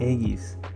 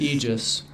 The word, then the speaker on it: Aegis: Aegis is a word of the Greek origin, and it's pronounced Aegis, not Aegis.